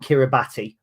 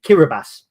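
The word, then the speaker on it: Kiribati: find it now so the island is not kirati but it's it's spelled kabati but it's pronounced uh another way kirbas uh and so they were called kabas they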